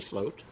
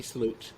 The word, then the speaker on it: Sloot: So today, you mentioned that I spoke to an artist called Rosemary Sloat, Rosemary Sloot, as her name would be pronounced here.